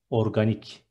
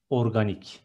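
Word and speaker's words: organik: Next one, organic, C becomes K and it is organic. One more time, organic.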